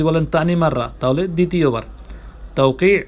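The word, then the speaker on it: توقيع: তাওকি আইন উচ্চারণ করতে হবে, তাওকি স্বাক্ষর।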